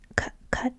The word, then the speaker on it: Qatar: Do you remember in 2022 when we all learned how to properly pronounce this country's name? Cutter cutter.